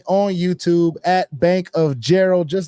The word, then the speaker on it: Jharol: YouTube at Bank of Jerald just like it's spelled here on the screen my first name is spelled a little different but you got it Bank of Gerald you should see a